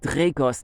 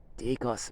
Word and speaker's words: Dacos: And if I said this to people, Dracos. No, Dacos without the R.